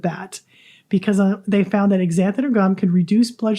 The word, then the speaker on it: xanthan: an x at the front x-a-n-t-h-a-m but it's pronounced xanthan so but they discovered that it significantly reduced